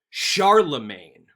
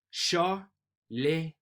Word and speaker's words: Charlemagne: Now, I was pronouncing his name as Charlemagne, which sounds really country bumpkin.